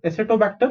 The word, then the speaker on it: Acetobacter: Okay, how do you pronounce this? ACE to aceto. Okay, ACETO aceto. This is bacter, BACTR. Acetobacter, and GLU is glue, CA is ca, NO is no, glucanobacter.